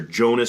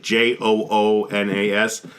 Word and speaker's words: Joonas: It's pronounced like Joonas or Jonas, but it's like Joonas.